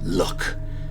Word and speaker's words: Lugh: If that name doesn't ring any bells for you, keep in mind that Lugh is sometimes pronounced luck, as in the look of the Irish.